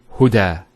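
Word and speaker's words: هدى: It's called an alif maqsura, and it's exactly like an alif, the way it's pronounced. It's like a ya without the 2 dots. So we say huda.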